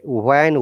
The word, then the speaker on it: when: When, remember, when, what, which, where, the H is silent. We do not need to pronounce H.